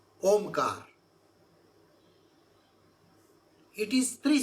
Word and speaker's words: Om: is a sacred syllable Omar it is three syllable a u and M see om is not one syllable it is three syllable uh U and M we say lastly oh like that so that three syllable